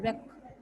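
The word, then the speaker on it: wreck: Next है रेक, इसमें W silent है तो कैसे बोलोगे? रेक।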